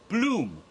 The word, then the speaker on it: Blum: course Jason Blum because be lu m is a german name that's pronounced bloom and it is a